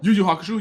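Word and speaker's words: 幽遊白書: Yo-Yo Hakusho. Yu Yu Hakusho, yeah. Yeah, Yu-Yu is how it's pronounced? I believe it's called, well, I pronounce it Yu Yu. Okay, well, Yo-Yo or Yu-Yu, it's Yu-Yu Hakusho.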